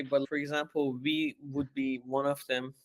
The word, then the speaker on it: ville: I'm not quite sure what I can say, but for example, V would be one of them, which is like city. It's spelled VILLE.